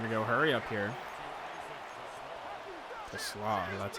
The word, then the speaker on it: Taysom: Taysom, that's how you say his name.